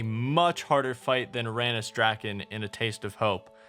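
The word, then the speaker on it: Drakan: harder fight than Ranus Draken in A Taste of Hope, which by the way, I know it's pronounced Drakon, but why say something in 2 syllables when you can say it in 1?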